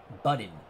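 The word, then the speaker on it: Buddin: As Bernard Strom has given me the proper pronunciation. Budin.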